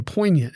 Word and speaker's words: poignant: word of the day poignant an adjective two syllables p o i g